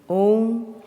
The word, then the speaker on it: Om: Om is a combination of A, U and Ma. Let us chant these three syllables one by one. Please observe that the sound comes from the throat.